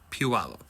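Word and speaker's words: Puyallup: Here's one for sale for 675,000 and it's in and yes, for folks outside of the area, it's pronounced Puallup.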